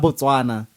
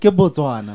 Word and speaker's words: Botswana: but Hababona Botswana they say Botswana. Why? There's no B-A there, it's B-O. Like Botswana.